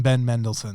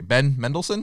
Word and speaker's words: Ben Mendelsohn: ben mendelsohn middle said middleton i love some ben mendelsohn men is it i said his name wrong okay ben mendelsohn ben mendelsohn there you go that guy awesome